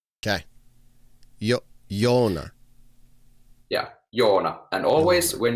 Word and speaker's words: Joona: Joona. Yeah. So O is like like if you had OH, O. So just the first part of that O is our O. Okay. Joona.